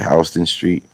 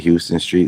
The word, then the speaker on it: Houston Street: Hey, E, you know they got a a street in New York that's spelled like that, but they call it H Street. And if anybody calls it Houston Street, that's like a dead giveaway that they're not from New York.